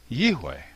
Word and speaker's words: יהוה: So, in my opinion, the pronunciation of the name Yod-He Vav-He is Yahweh.